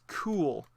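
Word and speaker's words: Kühl: on this also is cool. Believe that's how you pronounce it. K U HL. And the U usually is two little dots.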